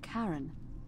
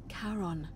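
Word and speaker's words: Charon: it's just as you described it only your pronunciation is a little off the name you heard wasn't karen it was c h a r o n as in caron the caron who in exchange for the right coin helps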